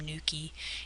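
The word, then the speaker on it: nuchae: location would be the aorta or the ligamentum Nuki if you want to put that down but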